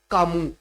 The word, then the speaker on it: Comus: but it is pronounced, it is written as Comus, but it is pronounced as Camus, right?